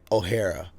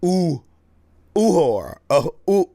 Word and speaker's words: Uhura: I've been pronouncing O'Hara's name wrong. I've been saying O'Hara. It's Uhura.